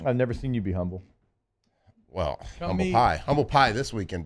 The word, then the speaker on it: Humble: Not Humble. You're saying Humble. Like, yeah, I think it's pronounced humble.